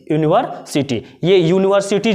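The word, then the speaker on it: university: लेकिन इसको बोले यूनिवर्सिटी, यूनिवर्सिटी, ये यूनिवर्सिटी जब बोल रहे तो इसका प्रोनाउंसिएशन एक्चुअल में हम लोग क्या करें, यू यानी वाई से, तो इसलिए यहाँ पे क्या होगा, ये जो होगा ए होगा।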